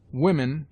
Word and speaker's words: women: Women is pronounced W-I-M-E-N.